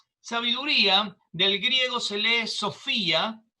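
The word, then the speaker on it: σοφία: del griego se lee sofía aunque se escribe ph pero se pronuncia como una efe sofía y significa que es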